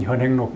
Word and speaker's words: 현행: 요게 이제 그 신편 제종 교장 총록에 해동 유본 현행록 이렇게 해서 해동에 책이 있고 현행 견행이지만 이제 읽을 때는 현행이라고 읽습니다.